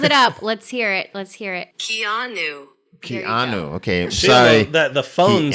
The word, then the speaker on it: Keanu: Let's first take a look at the most prominent suspect on today's list, Keanu Reeves.